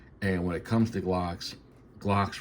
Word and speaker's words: Glocks: And when it comes to Glocks rhyme with stock, and I keep my Glocks stock.